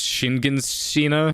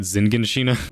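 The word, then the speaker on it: Shiganshina: So it's Shinganshina, not Zinganshina.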